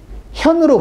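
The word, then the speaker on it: 見: 그래서 나타낸다라고 할 때는 현으로 발음을 합니다.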